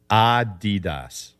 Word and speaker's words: Adidas: It's Adidas. What do you mean? I'm pronouncing it wrong? Because look, this is from the founder's name, Adolf Dassler. His nickname for Adolf was Adi, and he used Das instead of Adi Dassler, he called it Adi Das.